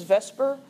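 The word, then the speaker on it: VSEPR: pair repulsion Theory so we usually pronounce this as Vesper even though that's switching the order around but it's too long to say veence shell electron pair repulsion Theory all the time so Vesper Theory this is based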